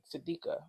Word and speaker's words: Sadeqa: Sadeqa. Sadeqa. I think my mouth automatically says Sadeqa, but I don't think there's a U. No, there is no U. So it might be Sadeqa?